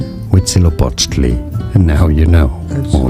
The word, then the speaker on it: Huitzilopochtli: Huitzilopochtli. Huitzilopochtli.